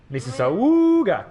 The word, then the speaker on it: Mississauga: I think you'll find it's pronounced Mississauga!